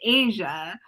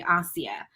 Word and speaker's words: Aasiyah: It's actually spelled Asia, so people pronounce it Asia, but the name is actually Aasiyah.